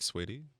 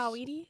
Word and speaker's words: Saweetie: say Saweetie? Sweetie? Oh, Saweetie? okay. Sweetie pie? Well, it's spelled Sugar Sawetee, so it's like saw Wheatie. weedy. Like wheat thins. Weedy. Right. Like a weedy.